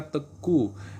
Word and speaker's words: Teuku: Kalau Aceh itu teuku ya, teuku, bacanya teku.